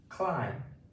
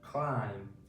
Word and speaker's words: climb: Climb. c l i m Climb.